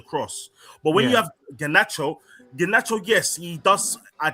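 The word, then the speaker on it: Garnacho: His name is Ganacho.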